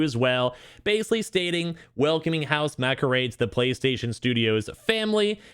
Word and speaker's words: Housemarque: Housemarque, Marque. I always say it's Marcade, but there's no aid in there.